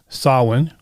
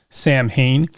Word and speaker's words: Samhain: planned to talk about sawin which most people incorrectly pronounced as samhain and the genesis of